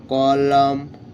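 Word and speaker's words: column: silence C ও এল ও ইউ এম এন কলাম সি ও এল ও ইউ এম এন কলাম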